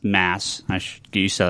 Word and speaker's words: Mads: much this week um I always call them Mads but it's pronounced masse I should do you so that are ma